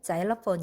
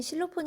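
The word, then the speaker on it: xylophone: 라는 의미를 가져 요 실로폰 에 정식 발음은 짤 오펀 이에요 그러나 우리나라에서는 실로폰 이 라고 불려져 와서 외래어 표기법 제왕 이미 굳어진 외래어는 관용을 존중하되 다는 원칙에 따라 실로폰 으로 표기 해요 이게 바로 실로폰 이에요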